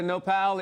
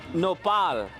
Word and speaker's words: Nopal: The Festival de Nopal is happening in series next weekend, but we couldn't wait that long to talk about it.